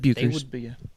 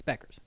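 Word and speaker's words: Bueckers: Buchers, It's Beckers. It's Buchers. Beckers. No, there's the U is silent.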